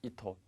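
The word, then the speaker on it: 意図: 자, 치즈, 지도할 때 도자 발음, 도자는 발음이 두 가지가 나옵니다. 즈라는 발음하고 토 두 가지가 나오는데 토로 발음 나는 것은 딱 두 가지만 기억을 하시기 바라겠습니다. 의도하다 할 때 이토 되겠죠? 그 다음에 도서관, 토쇼칸.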